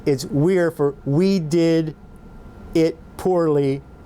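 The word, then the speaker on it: Wyre: And you'll see here that I have the proprietors as the names Weir Did, that's W-Y-R-E, it's pronounced Weir Did, and Itzel Poorly and Andy Dunn.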